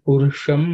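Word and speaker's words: पुरुष: Veda metum purusha mahantam the sha here is a cerebral sha. So the tip of the tongue has to point upwards.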